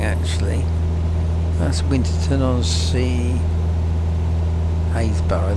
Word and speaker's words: Happisburgh: Haysborough they are, spelt with a double P, Happisburgh.